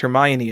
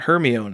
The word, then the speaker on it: Hermione: about Harry Potter uh do you know that Hermione's name is pronounced Hermione and not herion as I pronounced it my entire childhood yeah until the movies